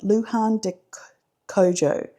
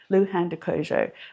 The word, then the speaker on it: Luján de Cuyo: is, let me just double check how to pronounce that, Luján de Cuyo. Luján de Cuyo.